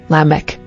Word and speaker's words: Lamech: next 11 lamech origin Hebrew l meaning strong pronunciation lamech Bible verse Genesis 4:19 ESV and lamech took